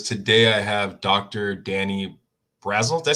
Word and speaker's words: Brassell: Danny Brassell. Did I say Brassell right? Brassell.